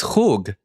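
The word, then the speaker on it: חוג: And the Hebrew word for circle is chug. Ket vav gimel. So hug is wrong. Hug would be wrong.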